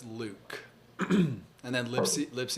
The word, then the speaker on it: Luc: it thank you uh luc that's luke and then lip see